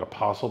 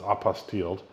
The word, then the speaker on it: apostille: but it's called apostille I keep calling it Apostle but it's apostilled and that is basically